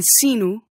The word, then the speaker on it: sino: In the beginning of a word. Like in sino.